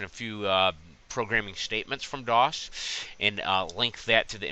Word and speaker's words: Dawes: Phonetically, DOS. It sounds almost like the operating system.